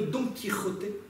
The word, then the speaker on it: Don Quijote: le savez, puisque aujourd'hui, le fameux Don Quijote se prononce en français Don Quichotte, puisque nous avons récupéré ce conte populaire à une époque où le son se prononçait différemment.